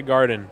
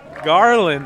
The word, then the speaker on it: Garland: Not Tyler Garden, like I said earlier. Tyler Garland, that's how you say it, Ronan.